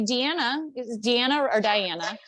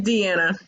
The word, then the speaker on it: Deanna: And I know yesterday, Diana was talking about those thoughts, right? Was it Diana? It's Deanna. Deanna. It's spelled different, but she my girl.